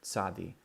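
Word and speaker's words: צדי: have Soddy Soddy Soddy so you have that TZ sound at the beginning it's a sad day sad D ok like pizza if you can say the word pizza you can say this letter here sadi this is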